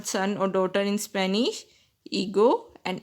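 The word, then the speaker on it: hijo: In the word son or daughter, H is also silent there. So, son is called as ego in Spanish and daughter is called as ega in Spanish.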